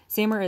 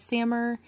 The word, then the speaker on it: SAMR: I've personally heard it as SAMR, and then after kind of researching this a little bit more in depth, I've heard people just kind of spell it out as S-A-M-R. I'm going to go ahead and say SAMR. But if you've heard something